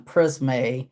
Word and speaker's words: Prisme: So it sounds like it would be higher class because that's Petite Maison Prisme or Prism, but it's spelled with an E.